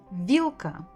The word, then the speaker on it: Вилка: Вилка, вилка, вилка, вилка. Stressed on the first syllable.